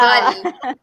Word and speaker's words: Diwali: Diwali.